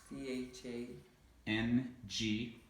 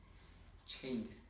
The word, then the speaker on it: changed: Now, you actually pronounced it a few times, you pronounced it correctly, but many times you pronounced it incorrectly. Watched. Watched. Next one is similar. C-H-A. C-H-A. N-G-E-D. E-D. Changed.